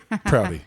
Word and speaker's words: Prouty: It's a Prouty.